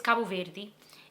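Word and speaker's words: Cabo Verde: Cabo ver if you've ever heard of it. I don't know why I said it like that. That's not how I say it, but I'm trying to like say it properly and English at the same time. Anyway, uh it's Kabu Veri and that's where we're from.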